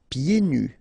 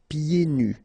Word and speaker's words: pieds nus: So final S here and then final S here is not pronounced. And then when you get this combination here, it's ye. Pieds. Okay, so you don't hear the D. Pieds nus.